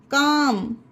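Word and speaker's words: calm: इसे बाम पढ़ा गया काम एम से पहले एल है तो पढ़ा गया हमम एच ए एल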